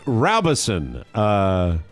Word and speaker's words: Robeson: Stephen Robeson. Why is it Robeson? Robeson. Okay. I didn't need a pronouncer for Robeson. Okay, just checking. He included it. Yeah. I see. I put row. Row your boat.